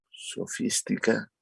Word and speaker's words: sofística: como la sofística, ajá, sofística, con acento en la I, ¿verdad? Sofística, porque es esdrújula, ajá, sofística.